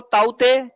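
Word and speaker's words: Tauktae: 2 cyclone चर्चा में रहे थे, एक तो ताउते के लिखा जाता है, प्रोनाउंसिएशन नहीं होता है उसका, और दूसरा कौन था, याश।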